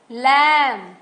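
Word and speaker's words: lamb: है यहां पर देखो इनम बी साइलेंट है लम हम लम बोलते हैं बम बोलते हैं कम बोलते हैं हम बी नहीं बोलते बट बी हर जगह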